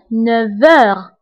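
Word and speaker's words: neuf heures: انتبهوا للنطق فقلت 9 heures V. نطقت لا لتر V مع أنه ما مكتوباش لأنه عندي لا liaison entre F et H.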